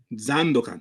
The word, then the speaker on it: Zandokan: of LIJ's team here, Zandukan. You said? That's how you say it? Zandokan, yes.